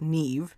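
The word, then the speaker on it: Niamh: name is not pronounced naam it is pronounced Neeve because it's Irish it's a Celtic name and that's great that's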